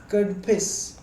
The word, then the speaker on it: Kadphises: इट was founded by कडफिस first, यह spelling pronunciation कुछ इस तरह है, KADPHISES, कडफिस फर्स्ट के द्वारा इसकी शुरुआत की गई थी।